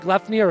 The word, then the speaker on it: Gleipnir: I was wondering how you'd pronounce that, which is why I was chuckling, but I think Gleipnir is probably correct.